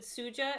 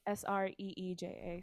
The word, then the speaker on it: Sreeja: You said Suja, S-U-J-A? Sreeja.